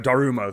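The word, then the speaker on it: Daruma: here is, I'm not sure exactly how to pronounce it, a Darumo, though.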